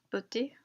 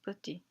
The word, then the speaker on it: petit: Usually the last consonants are silent, like gong and petit.